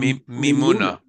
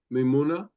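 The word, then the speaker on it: Mimouna: and this is called mimuna mimuna uh mimuna mimuna mimuna um look at that well that's they're saying that's how to pronounce it I can tell you how Sonia pronounces it and it's mimuna okay is the celebration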